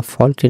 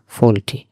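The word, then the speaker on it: faulty: এখানে উচ্চারণটা ফল্টি না, ফল্টি।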